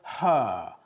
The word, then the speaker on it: her: Ok, la pregunta entera es, are you in front of her? Her. ¿Estás delante de ella? Her. Fíjate en la pronunciación de la H. Her. No decimos her, sino her.